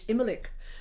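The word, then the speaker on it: Imbolc: imelec which is printed it's spelled in bolg and people go oh i'm celebrating in bulgaria you for a it's immalec there is no hard in celtic language it's just it's either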